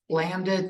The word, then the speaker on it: lambda: P of x equals lambda t to the x over x factorial times e to the negative lambda t.